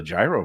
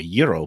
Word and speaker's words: gyro: diner I would order the gyro PL or Euro platters to pronounce it correctly but uh yeah anyway